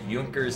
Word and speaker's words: Junkers: It's supposed to be pronounced Junkers.